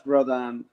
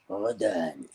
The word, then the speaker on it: Grodin: Grodin.